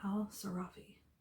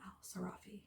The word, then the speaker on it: al-Sarafi: Amina al-Sarafi, I guess I pronounced it wrong originally, Amina al-Sarafi should be content.